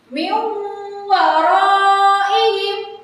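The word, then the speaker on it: من ورائهم: Min waraihim. Min waraihim. Terakhir, min waraihim. Seperti itu ya cara bacanya. Tidak boleh dibaca jelas karena bacaan jelas itu nanti dibaca oleh Idhar Halqi yang sudah kita pelajari sebelumnya.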